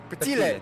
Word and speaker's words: Bertelli: but that's also because Bertelli, and I believe I'm saying that incorrectly. How did you pronounce it? I apologize. Which one again? Bertelli Pertolel. How did you pronounce it? Bertile. There we go. Bertile.